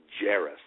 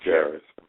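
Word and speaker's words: Jaracz: And Ted Jarris, that's the way that name is pronounced. Okay, Jarris. Jarris had been a branch overseer in Australia.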